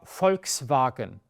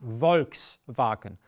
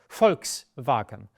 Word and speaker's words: Volkswagen: of um of sound it is not v as you as you have it in English and many other languages so this sort of car here is there FKS vagen it's not Volkswagen FKS vagen it's one of the